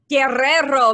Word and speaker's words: Guerrero: Not everybody rolls the R's, and sometimes I don't if I'm feeling lazy. What's the perfect pronunciation, though? Guerrero, baby.